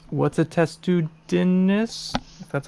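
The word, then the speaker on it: Testudines: that being annoying right because like what's a test to Dinis that's how you pronounce it it's a turtle it's a matrix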